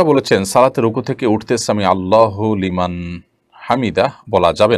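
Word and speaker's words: سمع الله لمن حمده: ফেলেছেন দেখুন সামি আল্লাহু সামি আল্লাহু লিমান হামিদা এটি হলো শব্দের সঠিক উচ্চারণ সামি আল্লাহু লিমান হামিদা সামি আল্লাহু লিমান হামিদা এটা সঠিক উচ্চারণ নয় থামতে হবে সেখানেই যেখানে মানুষ ওয়াকফ করবে না করলে সেখানে আপনার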